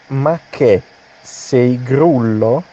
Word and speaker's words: ma che sei grullo: Okay, the pronunciation is ma che sei grullo. Remember what I told you about the ch. In Italian, ch, is k sound, che, not che, che.